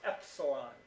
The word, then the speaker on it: epsilon: that thing that looks like an e is pronounced Epsilon and we say that if you truly think